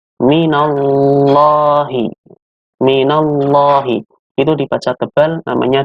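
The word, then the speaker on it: مِنَ اللّٰهِ: Yang berikutnya ada bacaan tafkhim lam jalalah Allah. Artinya dibaca tebal. Kenapa tebal? Karena lafaz Allah di sini, lam di sini, sebelumnya ada huruf yang berharokat fathah. Maka dibacanya tebal.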